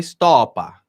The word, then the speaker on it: Stoppa: Porque a forma correta de pronunciar Stoppa não é Stoppa, é Stoppa. E o Flávio Bolsonaro, quando